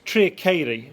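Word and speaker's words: Tre'r Ceiri: So it's Treacheiri. The local pronunciation will vary.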